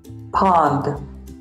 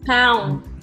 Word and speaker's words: pond: Yes, because usually the students say or pronounce it like this. They pronounce it like this. Pond. Pound. It's not pound. It's pond.